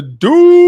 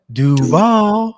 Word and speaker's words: Duval: Carolina is going to be traveling to Duval. You got to say it like new head coach Liam. Oh, yeah, my bad. Duval.